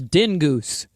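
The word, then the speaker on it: Dyngus: Okay, Joe, I got a message on X that said the Polish pronunciation is dingoose day.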